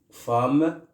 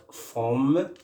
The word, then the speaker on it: femme: Vous voyez par exemple pour le mot femme, une femme qui s'écrit avec E et se prononce avec A.